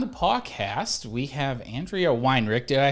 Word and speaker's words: Weinrick: uh today on the podcast we have andrea weinrich did i say your last name right andrea